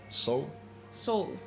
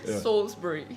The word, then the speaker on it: Salisbury: So it's like Salisbury. Salisbury. Yeah, but obviously with a British accent. Salisbury.